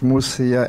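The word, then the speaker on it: Mosia: The surname is M-O-S-I-A, pronounced Musia, and I'm also the chairperson of Kayala Gunya Human Development.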